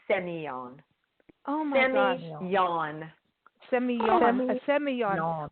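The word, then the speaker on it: Sémillon: Yeah, the two L's are pronounced like a Y, so it's Semillon.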